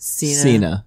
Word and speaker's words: Cena: you know who john cena is yeah it's pronounced cena yeah you know who he is a wrestler